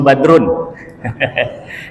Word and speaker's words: Badroen: Nama saya badroen tulisannya bacaannya Badrun ejaan lama masih tulisan itu anak-anak belum tahu dia